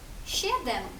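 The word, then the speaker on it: siedem: С і е прочитаємо як ще. Наприклад, у слові сім. Щедем.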